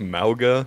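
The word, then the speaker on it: Mauga: yeah or it's well it's supposed be pronounced malga but it's MAA there's more lock over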